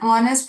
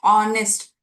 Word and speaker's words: honest: He was an honest police officer. Although the letter is H, we don't pronounce it using consonant sound of honest.